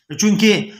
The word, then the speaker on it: Czech: तो यहाँ पर Z जो है वो साइलेंट है, वो आवाज़ नहीं देता है, इसलिए चेकोस्लोवाकिया, CZECH चेक। Z यहाँ पर आता है, आप चेक करें तमाम किताबों में ये चेकोस्लोवाकिया है।